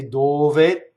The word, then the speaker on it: dove: Notice that dove is a 2-syllable, one of the 2-syllable words that causes a doubling. So if you say dove, the second D is doubled. And the D is done in the way that when you go up to the D and you don't say it, you stop phonation. Inviarti.